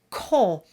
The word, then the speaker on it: compter: The first syllable of compter is definitely con. The M and the P are not voiced. That M signals that it's a nasal sound and the P is completely silent.